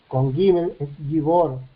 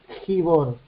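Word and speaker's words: גיבור: de esa manera y yo digo guibor no es gigor si yo lo transcribo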